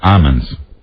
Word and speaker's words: almond: said it but almond you pronounce the L I say yes I say almond is that a Midwestern thing is that your Midwestern sensibility I think so they tend back East tend more to say almonds well no I don't say Ammons I say almond guys the L can I have some